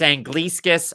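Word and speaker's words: Anglickas: on julius and gliesekis it's angliscus i listened to him pronounce it himself time and again to make sure i didn't make the mistake um julius overlooked by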